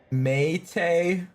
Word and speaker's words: mate: She's referring to the South American drink that's pronounced, Mate.